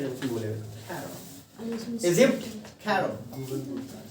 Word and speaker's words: Cairo: राजधानी तो इसको कायरो मिलेगी आपको, CAIRO, इसको बोलते कैरो, ठीक है, जब उसमें बोले कैरो, इजिप्ट कैरो, हाँ गूगल ट्रांसलेट, कैरो हो गया, लिख लिए?